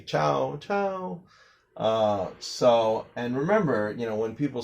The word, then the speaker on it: ciao: No, it's ciao because C before I or an E in Italian is pronounced like a CH.